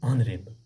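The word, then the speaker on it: honourable: हम H silent पे रखते हैं और ओ पढ़ते हैं, इसको बोलते हैं ऑनरेबल डियर स्टूडेंट्स।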